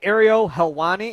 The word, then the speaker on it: Ariel Helwani: Ariel Helwani?